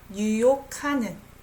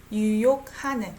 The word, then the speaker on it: 유혹하는: I pronounce it as 카 sound. 유혹하는. 유혹하는. G and H sounds like K naturally.